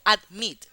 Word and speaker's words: admit: Admit tiene la sílaba tónica, la sílaba acentuada en la I. Admit. Yo no digo admit. Se dice admit. La I es la que sube.